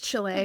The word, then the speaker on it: Chile: So for everyone to know that's the name of the country, it's Chile. We're not talking about Chile food or anything like that.